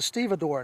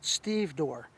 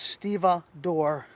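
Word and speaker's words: stevedore: of blocks the second knot is called the stea door knot some people pronounce it stev door but it's stea door knot it's also used by long shoreman loaders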